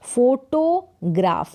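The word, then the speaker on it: photograph: में तो ग्रा और पीएच को फ फोटोग्राफ तो दो टुकड़ों में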